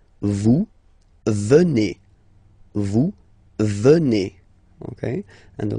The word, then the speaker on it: venez: Then, classic ending for vous, EZ here, and then you pronounce it et, vous venez.